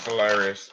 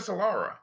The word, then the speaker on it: Solara: you got me confused I thought you said Solara it is Solara he said it right and then you I was like wait wait wait no he is right it is Solara that's